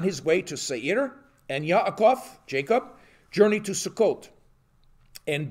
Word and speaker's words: Yaakov: So I'll be using a lot of the Hebrew pronunciations. So Yaakov is talking to Laban.